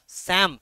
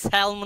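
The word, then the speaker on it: psalm: syllable of certain short স্যাম উচ্চারণটা মানে পি স্যালম নয় বা স্যালম নয় উচ্চারণটা স্যাম পি আর এল সাইলেন্ট হবে পি আর S sorry P আর এল দুটোই সাইলেন্ট হবে স্যাম মানে মানে কি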